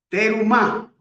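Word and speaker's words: Terumah: Vamos a iniciar nuestra parachas número 19 y se llama Terumá. Se escribe t E r u m a h.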